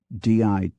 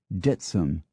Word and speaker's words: Dittisham: Dittisham, Devon, has three pronunciations: Dittisham, Dittisham, Ditsum.